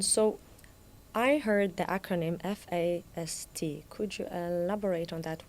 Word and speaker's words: FAST: Um so, I heard the acronym F A S T.